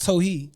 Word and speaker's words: Towhid: be saying it right but teachers because it's pronounced tohi yeah but teachers be like towel head jewel and i'll be like is that how you